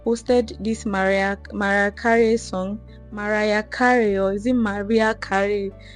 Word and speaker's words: Mariah Carey: this Mariah Carey song, Mariah Carey, or is it Maria Carey? I used to call her Maria Carey, but I feel like the pronunciation of the name is Mariah Carey.